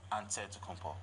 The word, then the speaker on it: Antetokounmpo: pronounce it way but in the greek way you say with the nt like antetokounmpo whatever you got just say